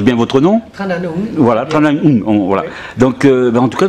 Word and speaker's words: Tran Anh Hung: Tranung. Je prononce bien votre nom. Tranung. Voilà, Tranung.